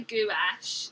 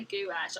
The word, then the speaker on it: gouache: say that right i like how leona says gouache yeah or you can say gouache some people say gouache i always find that a bit weird uh tell me how actually is a texan how do you say it as a texan wash is that how you say it anyway try